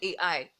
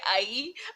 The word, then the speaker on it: Ai: called AI you know I don't know how maybe maybe the particular you know particular culture pronounces that some people say ie others say AI you know for now I'll just say I you know so can